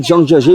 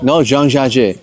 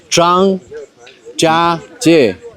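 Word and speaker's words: 张家界: كل مرة بحاول أنطق كلمة زانجياجي بنطقها غلط فبيتريقوا عليا نوعا ما. I'm gonna try to say it and tell me if it's correct or not. زانجياجي. No, Zhangjiajie. It's Zhangjiajie.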